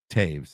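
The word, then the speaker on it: Toews: his uh oh Jonathan Taves is that how you say it yep the O the OE is name he made it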